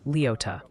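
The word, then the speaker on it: Leoti: Oh, and the Kansas delegation in chat is politely but firmly insisting Leote is pronounced Leota.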